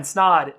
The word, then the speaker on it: Snod: My name is Snod. It rhymes with odd, and I'm going to see you guys in the next video.